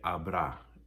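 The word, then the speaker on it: habrá: future it would be abra h-a-b-r-a accent only a um fiesta there won't be a lot of people at my party and so in none of these does the h get pronounced it's a you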